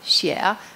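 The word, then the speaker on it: 蟹: in Chinese that makes the spoken word for crab Shia rhyme with a word that means Harmony Shia they just have different tones one's a rising tone the other's falling tone but Harmony is a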